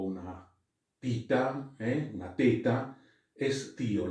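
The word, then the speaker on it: ἐσθίω: Estío. Esta es una Z o una tita, una teta, estío. La podemos pronunciar como una Z o como una T en definitiva, ¿no?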